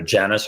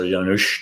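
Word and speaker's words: Janus: god adores is uh either Janice or yanush depending on how you want to pronounce it oh really and he's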